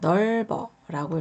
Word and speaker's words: 넓어: 자, 이 글자 같은 경우 자, 넓어라고 읽어주시면 되세요. 이 리을 받침이 여기서 소리가 나고요. 이 비읍 받침은 이 이응 자리로 넘어가서 소리가 납니다.